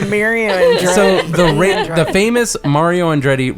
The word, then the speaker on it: Andretti: Mario Andretti? Mario. Definitely not that. It's Mario Andretti.